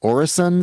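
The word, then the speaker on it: Øresund: know, explorational group and you're doing is it pronounced Orrison Space Collective.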